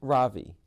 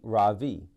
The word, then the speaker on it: Ravi: is my name my first name is ravi is pronounced rav with a soft raw and a strong in sand skirt it means the sun in america people call me ravi with the stress on the first syllable that